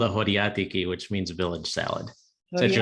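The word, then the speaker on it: χωριάτικη: it's called a horiatiki, which means village salad.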